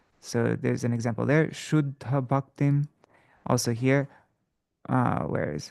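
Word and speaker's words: śuddha: Shuddha. So see, there's a double two D's without any vowel in between that, without any kind of vowel. So the syllable before it becomes long, even though it's a short, because it comes before a conjunct, this one becomes long. It becomes a long syllable.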